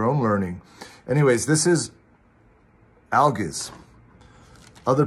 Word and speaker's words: Algiz: Anyways, this is ALGIZ. Other pronunciations, ALGIZ, ALGIZ.